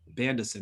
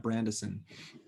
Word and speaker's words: Bandison: his name wrong uh bandison not brandeson and uh he he